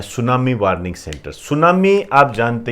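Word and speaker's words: tsunami: सुनामी आप जानते ही हो, इसको वैसे तो ऐसे लिखते हैं, टी साइलेंट होता है इसमें।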